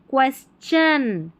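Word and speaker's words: question: और टी आई ओ एन को वैसे अक्सर शन ही पढ़ा जाता है। लेकिन इस वाली स्पेलिंग में और नीचे वाली स्पेलिंग में च पढ़ेंगे। ठीक है? यहां पर टी आई को च पढ़ा जा रहा है। तो यह पूरा पढ़ा जाएगा। क्वेश्चन क्वेश्चन नहीं श नहीं क्वेश्चन क्वेश्चन ऐसा प्रश्न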